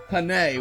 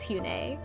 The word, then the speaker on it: Hyun-ae: You said it's kind of like a sort of sassy version of honey, like Hane. Yeah, so I have different. So the pronunciation guide in the game would imply that it was Hune, but then I talked to a person who likes K-pop a lot, and he said that it was more like Hane or Hyane.